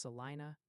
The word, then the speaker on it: Salina: Salina is pronounced Salina, and Saline County is Saline.